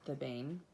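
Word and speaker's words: thebaine: and that alkaloid is it's spelled t-h-e-b-a-i-n the bane it was developed and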